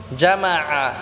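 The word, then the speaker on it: جمع: এক আলিফ টেনে পড়বো জামা এখানে আইন টাকে আমরা গলায় চাপ দিয়ে উচ্চারণ করব আল্লাজি জামা বললে হবে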